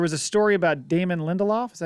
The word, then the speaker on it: Lindelof: However, there was a story about Damon Lindelof.